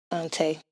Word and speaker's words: Taii: I am Taii. Okay. Galley on the drum. I was wondering how to pronounce it. Taii.